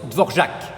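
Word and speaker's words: Dvořák: florac oui mais non c'est du tchèque oui là se prononcent dvorjak il est né mort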